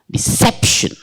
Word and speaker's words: deception: like that next one deception deception deception deception deception sometimes you know Shannon there is no o actually shin shin you know it's continuous deception next one the minion